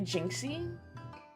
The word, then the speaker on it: Jinxie: It's a pun on the word jinx, so it's probably Jinxie.